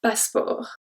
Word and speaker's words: passeport: We don't even pronounce the E, I just said to make, to emphasize, but we don't pronounce the E, so it's un passeport.